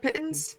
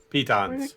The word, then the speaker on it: piton: Pittons? What are they Pitons. called? Piton. Oh, Pitons. yes. I You always know what?